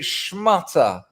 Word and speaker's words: schmutter: a shmat a cop poor me well we pronounce it shmutter and yeah in in soho it means cloth